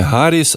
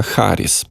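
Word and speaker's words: Harris: дітей і до речі Олег Шарп пише що фонетично вимовляється не Гаріс а харіс і тут ми йому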